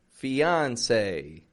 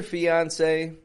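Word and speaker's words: fiancé: with one e and that e has an accent on it when we put that marking over top of vowels we call it an accent this has that accent which in French would signify the a kind of sound fiance say fiance now when we're speaking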